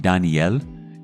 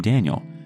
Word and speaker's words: Daniel: Ever since he was born, she's been calling him by the Spanish pronunciation of his name, with an emphasis on the N. Kind of like Daniel instead of Daniel, like I imagined.